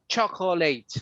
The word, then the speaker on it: chocolate: A lot of people will say chocolate, right? Chocolate is chocolate, chocolate. It's just chocolate.